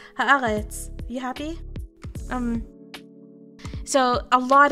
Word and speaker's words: Haaretz: Okay, Nightways, I was pronouncing it with my Canadian accent. Haaretz, you happy?